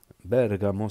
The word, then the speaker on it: Bergamo: connais des gens de Bergamo Bergamo c'est comme ça prononce en italien c'est Napoli euh Milano toujours l'accent au début c'est leur accent c'est